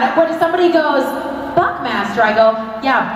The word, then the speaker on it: Buckmaster: what if somebody goes buckmaster I go yeah Buckmaster rhymes with Chuck faster okay what